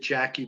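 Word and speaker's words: Jaki Bell: what congregation pastor jack is it jackie or jakey is j-a-k-i bell jack she annette pronounced it jackie bell international prayer ministries jackie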